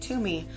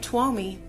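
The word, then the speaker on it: Twmy: E toi that is spelled t w m y but pronounced to me if you say it TW me you are delightfully incorrect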